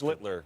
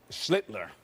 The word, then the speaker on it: Schlittler: Schlittler. Oh, well, he's the master. Schlittler. Schlittler. Now your turn. Sound like Hitler.